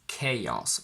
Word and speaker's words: chaos: So I would pronounce it as chaos with a little bit of a y in the middle.